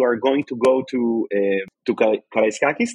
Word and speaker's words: Karaiskakis: What can you tell those Maccabi fans who are going to go to Karaiskakis? That's the way to pronounce it? Yes, absolutely. Great.